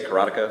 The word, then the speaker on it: Karateka: That's actually part of this project, is how do you say the name. But most of us, for whatever reason, say Karateka, so I'm probably just going to fall into that.